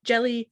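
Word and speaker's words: Djeli: have written this down i did learn how to say this person's name it was p jelly clark jelly spelled d-j-e-l-i okay anyway it's in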